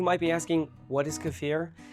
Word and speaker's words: kefir: and that's homemade cafir and yes I said cafir and not kefir because it's actually pronounced C like deer or beer not kefir and for those of you who might be asking what is cafir it's actually a very rich probiotic drink sometimes